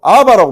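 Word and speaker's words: אבא: 아버지를 부를 때 아람으로 아바라고 불렀습니다. 아바. 아바.이 이 아바를 헬라어로 번역하면서 파테르라고 했는데요.이 아바라는 말은 아버지에 대한 굉장히 친밀한 호칭입니다. 한국은 아빠와 발음이 비슷하죠.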